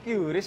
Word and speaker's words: QRIS: Bisa pakai QRIS, kok. Bacanya Chris, Bip.